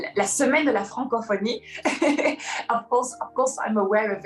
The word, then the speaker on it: Francophonie: Francophonie. Did I pronounce it correctly? Yeah. Yes, I did it.